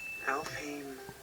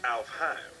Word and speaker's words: Alfheim: Alfheim online? Actually, it's pronounced Alfheim.